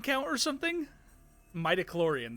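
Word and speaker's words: midi-chlorian: Sha, have you got a crazy Have you got a crazy high midi metloran count or something? Mitochlorian. That's what that's how you pronounce that.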